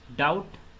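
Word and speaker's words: doubt: Wrong, W silent है, night H silent है, high G silent है, डाउट B साइलेंट होगा, कुड L साइलेंट होगा, वाक L साइलेंट होगा।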